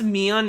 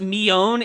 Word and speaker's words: Mion: They pronounce Mion and Shion wrong. Well, I don't know if they pronounce it wrong, but they pronounce it really weird. They pronounce it Mion and Shion. Oh, well, that's them trying to mimic the Japanese way.